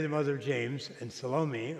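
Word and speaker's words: Salome: mother of James and salomi or some pronounce name salom are the same three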